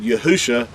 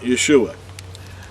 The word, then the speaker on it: Yahusha: him in Hebrew and he had to have said yahusha was his name being that yahusha is Hebrew and not Yeshua so now one thing